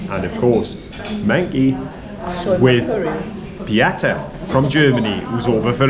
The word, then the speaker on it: Beata: No, Beata. Beata.